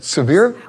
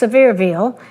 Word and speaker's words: Sevierville: Is it Seviere? Well, it's pronounced Sevierville.